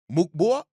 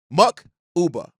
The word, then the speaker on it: Mukuba: Bayard replacement, is Andrew Mukba. Mukba. Uh, listen, Mukuba. Mukuba. Mukuba. That's how you pron And Andrew Mcuba is is how you pronounce that.